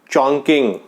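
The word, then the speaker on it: Chongqing: चॉन्किंग चोंग, थोड़ा प्रोनाउंस गलत कर रहे हो आप। चॉन्किंग।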